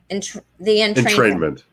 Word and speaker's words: entrainment: Entrainment.